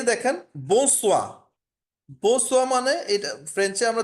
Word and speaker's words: bonsoir: বো সোয়া, বো সোয়া মানে আর হচ্ছে গুড ইভিনিং, ঠিক আছে?